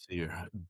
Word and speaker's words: Basir: How you pronounce it? Your name. How you do it? Bassier. Bassier. Like you say, you say Bassier. Bassier. Yeah. Bashier.